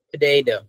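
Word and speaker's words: potato: ওরা দেখেন কিভাবে দেখেন ওরা এটাকে পটে বলে না পটেট্রি বলেন ওরা বলেন পেডেড পেডেড এই রিপিট মি সবাই পেডেড পটেড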